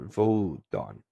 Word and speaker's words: Wotan: The Old High German or Old Saxon is Wotan or Wotan or Wodan. Actually, I think at this time it would be V's for the W's. So Wotan, Wotan, or Vodon.